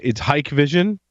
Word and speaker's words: Hikvision: How do you pronounce that? It's Hikvision and Xiaomi.